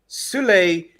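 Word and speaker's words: Süle: I like Sule. No. Jamal says Sul.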